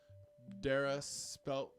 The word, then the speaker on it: Dara: I also ran into Dara said like Sarah, but with the D.